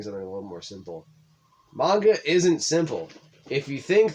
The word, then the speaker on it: manga: well i guess i'm literature well i like manga manga hey why'd you say it like that if